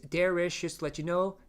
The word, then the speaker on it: Derich: My name is not Derich. My name is Derich with an H at the end.